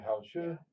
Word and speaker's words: 好吃: Yeah, Hao Tzu.